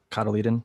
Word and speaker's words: cotyledon: You can use the first, like even non-true set of leaves, cotyledon, I think is how it's pronounced.